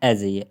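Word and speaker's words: edge: है एड्स ads AIDS ये एडज नहीं है एजय एज एज इसको हम एज पढ़ेंगे एज एज एज ए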